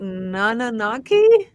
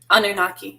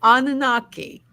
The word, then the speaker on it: Anunnaki: to talk about Trish how do you say nananaki Anunnaki Anunnaki thank you yeah thank you because you know me with my pronunciations um yes we're going to talk about